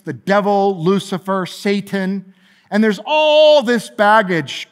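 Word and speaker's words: שטן: character is called satan in the hebrew that's pronounced satan this is actually one of the words that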